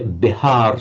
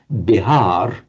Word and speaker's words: Bihar: And we know the name of the state of modern India, Bihar state.